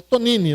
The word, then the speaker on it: Tognini: A gente fala Tonini, né? Se escreve Tognini com G mudo.